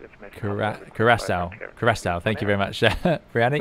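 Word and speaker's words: Curaçao: Don't pronounce Cracker wrong and get the controller. It's Curacao.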